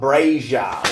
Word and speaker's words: Brasia: It rhymes with Frasier.